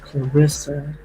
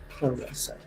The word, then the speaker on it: Claressa: And I believe they said that her name is pronounced Clarissa, right?